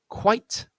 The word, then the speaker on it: quite: Now you'll notice the first one, quite, is a one-syllable word, so it's very easy enough to know where to stress that word. You don't have to think at all.